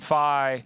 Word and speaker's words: Fye: Hi, Fye, Fye.